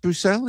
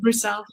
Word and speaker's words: Brüssel: Brousel. It's actually in Germany they say Brussel. Oh, like almost like Brussels sprout.